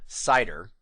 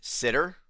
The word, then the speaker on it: CIDR: save the letters because I pronounce this acronym cider but many people pronounce it sitter and I've even seen it pronounced as cedar cider sitter cedar don't